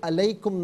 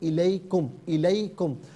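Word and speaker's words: عليكم: کر نہیں پڑھیں گے۔ علیکم نہیں، یہ الیکم، وَأَنْتُمْ لَا تُظْلَمُونَ۔ تو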